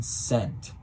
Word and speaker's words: scent: Is the S or C silent in scent? They're both present. The C is silent.